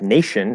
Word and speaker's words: nation: um but then sometimes like nation spelled with a t it has an sh sound also right so it could